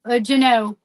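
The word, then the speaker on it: Jeanneau: Juneau. Juneau. How do you spell that?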